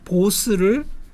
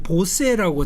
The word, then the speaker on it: Bose: 한국에서는 이 인도 사람 보스를 단행본 책이나 논문에서도 보세라고 자꾸 써요. 그거는 잘못된 겁니다. 그러니까 수바스 찬드라 보스입니다. 그리고 우리는 보스의 오디오라고 안 하잖아요.